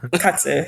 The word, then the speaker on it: katsu: like in American English, it's pronounced like chicken katsu, but it's like katsu is how it's pronounced in Japanese, like stuff like that,